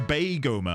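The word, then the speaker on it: Beigoma: It's pronounced Baigoma, I see.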